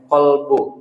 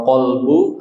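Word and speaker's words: قلب: Dan rohani itu ditentukan oleh kalbu, sehatnya hati. Membacanya bukan kalbu. Bahasa Indonesia suka disebut kalbu. Padahal kalau kalbu artinya anjing. Tapi kalau olbu artinya hati.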